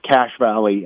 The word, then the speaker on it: Cache Valley: But talk about, is it the Cache Valley, or how do you pronounce it? Yeah, it is. It's pronounced Cash Valley.